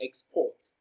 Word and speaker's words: export: Export is pronounced and broken down into syllables as export. Export as a noun receives the stress on its first syllable.